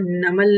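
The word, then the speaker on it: نمل: आगे देखते हैं कि सूरत नम्ल, प्रोनाउंसिएशन शायद पहले भी हमने क्लेरिफाई किया है कि सूरह नमल नहीं है, मीम के ऊपर जबर नहीं है, बल्कि क्या है, साकिन है।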